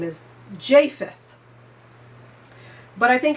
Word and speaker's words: Japheth: I mispronounced his name throughout this entire reading. His name is Japheth.